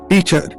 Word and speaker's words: teacher: Vikram, teacher. Stress on the first syllable.